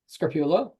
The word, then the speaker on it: Scarpulla: Today, we're taking a look at trends in pasta with Scarpulla. I'm going to start over again. I never got the pronunciation of your last name.